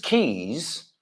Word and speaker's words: keys: Pero extiendo la Z para que oigas, que no es ese.